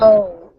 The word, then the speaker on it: owe: where is the pronunciation or intonations O-W-E? O. Oh. Oh. Just like you said.